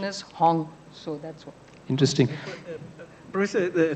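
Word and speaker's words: 行: That h is in Cantonese pronunciation is hong.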